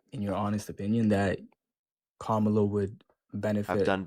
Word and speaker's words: Kamala: How do you pronounce it? Kamla.